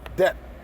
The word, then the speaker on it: debt: it goes into death okay debt not death till I get debt okay d-e-b-t debt okay d e b t um so let's go